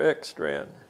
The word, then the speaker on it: Ekstrand: your name sir my name is x strand could you spell it spell e k s t r